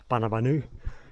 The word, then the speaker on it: Boonoo Boonoo: It's spelt Boonoo Boonoo, but it's pronounced Boonoo Boonoo.